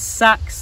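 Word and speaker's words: seax: different types of sexes sometimes pronounced as sacks and people think that's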